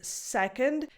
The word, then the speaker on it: second: So basically, it's second. You have to picture like a bridge between the sound and the following consonant sound, second.